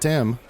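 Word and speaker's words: Thyme: is the last one Tim yeah how do you spell that t h y m h Yeah Tim okay that makes sense yeah that's what my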